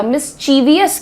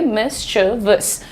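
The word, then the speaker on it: mischievous: मिसचीवियस क्या होता है? What is what is मिसवियस? शरारती, नटखट, शैतान बच्चों को, लोगों को मिसवियस कहा जाता है। तो मिसवियस छोड़िए। मिसवस मिसवियस। ओ ही इज़ प्रीटी मिस यार। ओ यो यंग बॉय इज़ प्रीटी मिस्टबस। काफी शरारती बच्चा है। सो मिसवस ऐसे मिसवस। मिसवस। अब आज से मिसवियस नहीं बोलना। ही इज़ वै मिस्टबस।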